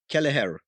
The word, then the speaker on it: Kelleher: cost I am Martin lindes hi yon Daniel keler hi there you've pronounced that really well I did you can